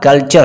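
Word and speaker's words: culture: तो यहाँ पे देख सकते हैं कि रूल में क्या है, टी के बाद यू आर ई आ रहा है तो यहाँ पे आपका जो प्रोनाउंस होगा कल्चर होगा, चे का होगा कल्चर।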